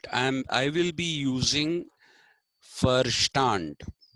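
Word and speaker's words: Verstand: I will be using firstand v e r s t a n d is pronounced V is pronounced fa in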